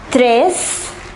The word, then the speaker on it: treize: 11 is onze, douze, treize, quatorze and quinze.